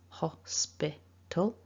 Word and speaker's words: hospital: cambridge online dictionary and what we can see first of all with those blue marks is that with the two dots the two full stops they're dividing the word into three syllables so hospital that's the first thing